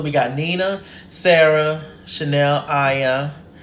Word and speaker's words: Ayan: So we got Nina, Sara, Chanel, Ayan. Why did I say Chanel Iman? Chanel Ayan, I believe is how you say her name.